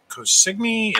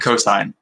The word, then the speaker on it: Cosine: Is it Cosigny? Is it Cosine? How do you pronounce it? Cosine. Okay. Just drop PE.